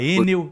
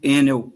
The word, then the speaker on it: Enel: que fala enneo e tem ouvinte que fala enel como é que é o jeito certo de falar o nome da empresa e nós chamamos aqui no Brasil enel para não confundir com a Agência Nacional de Energia Elétrica chamada anel né então nós chamamos enel